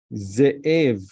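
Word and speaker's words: זאב: You, Shva means like you pronounce it hard, like you press on it. Ze, like double Zain, but we say Shva, which means double.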